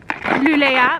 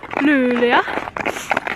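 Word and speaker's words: Luleå: We are in what I how I would pronounce it, Lululea. But I think it's actually Lula.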